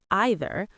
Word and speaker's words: either: One said either, the other said either, one said neither, the other said neither. And the lesson? Even two people who love each other can disagree on pronunciation, and both of them are right.